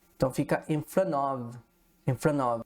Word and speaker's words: in front of: Uma dica de pronúncia aqui também, pessoal, é muito comum, né? A gente omitir letras, né? Aqui no caso a gente pode omitir o T e conectar já o N.